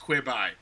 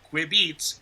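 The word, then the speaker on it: Quibi: quibby should be pronounced qui bye because it's quick bites it's not qui beets qui beats quick beats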